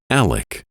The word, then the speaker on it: Alex: He spells his preferred name A-L-E-X, yet chooses to pronounce it Alec.